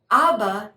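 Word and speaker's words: אבא: let's articulate those vowels remember our olive doesn't have a sound so it takes on the sound of the vowel ah and then but there's no vowel under the aleph at the end right okay so there's nothing more to say and when we speed it up it's abba abba and abba is also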